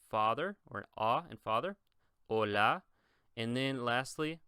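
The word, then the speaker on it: hola: now focus on this the H is silent pronounce this like an O and bone this like a a and father or a and father Ola and then lastly pronounce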